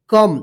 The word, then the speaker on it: come: COME, कम, देखिए यहां पे क्या है कि लास्ट में ई है और इससे पहले वाला वोवेल जो है ना ओ है। तो यहां पे जो है ना ओ का अ उच्चारण हो रहा है, ओ नहीं हो रहा है, ठीक है ना।